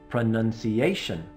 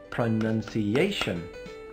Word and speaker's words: pronunciation: pronunciation how many syllables pronunciation pronunciation how many is that pronunciation five where is the stress from pronunciation pronunciation number four has the stress so remember as you